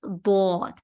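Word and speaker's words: ض: Dod is going to pronounce heavier. This is a heavy letter. And to pronounce the dod, what you have to do is you have to spread your back part of your tongue in between your both sides of the teeth.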